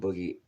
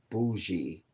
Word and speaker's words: bougie: Um, Black and Boogie, laugh out loud. It's pronounced bougie, brother. What did I say? What did I say? Oh, your name is pronounced bougie.